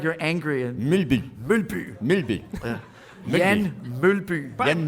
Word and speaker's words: Mølby: Pronounce that for me, because I always said Jan Mølby. Mølby. Okay, wait a minute. Let me try this. Mølby.